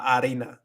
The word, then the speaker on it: harina: supposed to say, but I roll my R's more than I need to. But yeah, it should be just like la harina, la harina. I just go a little bit overboard sometimes with my R's.